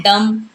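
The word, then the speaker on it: dumb: नम ऐसे ही है डम तो ऐसे कई सारे आपको वर्ड मिलेंगे जहां पर एम के साथ बी होता है वहां बी हो जाता है साइलेंट बी को नहीं पढ़ा जाता तो देखा आपने कितना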